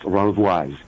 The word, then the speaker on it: Renvoise: So my last name is pronounced Renvoise.